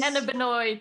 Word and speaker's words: cannabinoid: Cannabinoid.